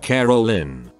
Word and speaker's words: Carolyn: for an idea say my name was Carolyn usually pronounced carol-lynn mum would often pronounce it C a role in or car rollin and Dad would call me Caroline it's a bit more